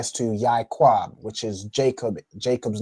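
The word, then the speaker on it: יעקב: Okay, so it's like it's pronounced Yaquab, right? So the Ya and the I make the Yai, and the Kwa and Ba make Quab.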